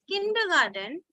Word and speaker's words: kindergarten: is I long but when we write kindergarten it becomes short right right so when you